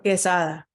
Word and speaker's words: Quesada: Quesada.